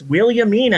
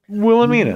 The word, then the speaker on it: Williamina: was willamia but no it's Willie Amina as in William oh it's a girl I guess it can be William Mina yeah and then then as time passes we start pronouncing thing more things more and more sloppily and then Willamina Maybe